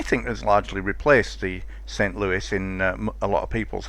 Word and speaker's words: St. Louis: Always have to be careful not to call it a St. Louis, which is my natural pronunciation for it, but not correct. This is a St. Louis. It's American, it's not French.